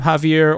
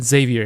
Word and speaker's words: Xavier: be uh Xavier uh I did contemplate on how you could pronounce his name Javier or sh uh you know I know somebody who name whose name is uh chevier but I'm going to go with with uh Xavier here for the video